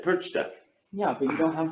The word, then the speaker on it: Perchta: Perch? is he saying it right? No. Didn't think so. I didn't think so. Perchta. How do you say it? I don't want to say it right off the top of my head. I have to see the spelling. How's it? Perchta.